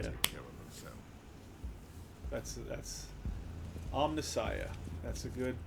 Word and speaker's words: Omnissiah: That's Omnissiah. That's a good pronunciation.